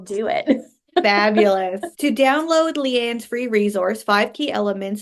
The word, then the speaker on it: Liane: when and we'll do it fabulous to download Leanne's free resource five key elements of growing a